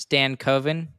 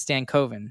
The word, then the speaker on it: Stankoven: You know, I actually didn't know this, but you know his last name is actually pronounced Stan Coven rather I than didn't know that.